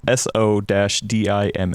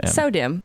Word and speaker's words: SO-DIMM: So if you actually think about the word sew as in sewing, like that's correct.